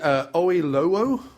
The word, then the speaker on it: Oyelowo: He's played by David Oyelowo. Oh, I know. And that's how you pronounce yeah.